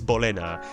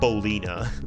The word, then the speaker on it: Bolena: Okay, so it is Bolena. It is not Bolina. Like, it's still cool, though. Like, hey, ain't nothing wrong with Bolina, but it's just not the one.